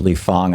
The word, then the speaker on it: Lee Fang: I pronounce it Lee Fang. I think that's the right way to pronounce it, right, Lee? That's right. Hey, Tom, how are you doing? Great, but it's spelled like it's Fang, so I'm fine.